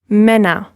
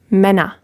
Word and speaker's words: Männer: It's Mann and Männer. So you hear that open R sound at the end, and the umlaut, a short sound, Männer.